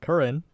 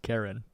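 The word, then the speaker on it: Curren Chan: That's uh Curran, which is kind of crazy because her Japanese name is just Karen. Karen. That makes it like one of the most like diverging pronunciations between English and Japanese names, right?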